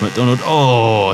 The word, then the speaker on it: MacDonald: I've only mispronounced like half a dozen names so far. I got the riders wrong. It's MacDonald.